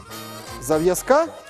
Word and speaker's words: зав'язка: Наголос на якій? На А. На якій А? На останню. На останній А? Да. Зав'язка? Ой. На перву. На першій. Так.